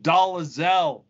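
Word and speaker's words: Dolezal: well Vicki like like Rachel dolal doel her name is pronounced doelle that's the way she says it that's the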